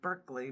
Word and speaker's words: Berkeley: That That's B E R K L E Y, like you're barking up the wrong tree, Berkeley.